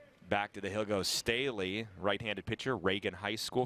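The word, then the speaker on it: Stehly: Last year they had a right fielder, Murphy Staley, same pronunciation, but it was spelled S-T-E-H-L-Y.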